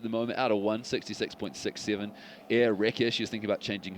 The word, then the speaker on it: Erika: name is spelt, to the first part being air, as in the air you breathe, and the second part being Rekka, as in wrecking ball.